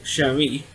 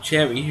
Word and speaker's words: Cherie: Well, her character's name is, I should say, is Cherie, but Bo couldn't pronounce it like that, so they call it Cherry instead of Cherie.